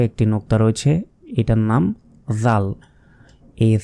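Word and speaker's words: ذ: করে উচ্চারণ করলাম ছা ঠিক সেভাবে জাল জিবাটা বের করে মানে জিহাবার আগাটা এ দাঁতের সঙ্গে লাগিয়ে দিন সামনে যে দাঁতগুলো রয়েছে এ দাঁতের আগার সঙ্গে লাগিয়ে উচ্চারণ করতে হয় জাল জাল তারপর র র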